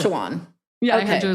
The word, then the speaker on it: Sachajuan: Besides Jones Road, okay, I'm going to pronounce it wrong, but there's a hair product line. I heard your recent. It's Sachajuan. You were right when you said it. Sachajuan.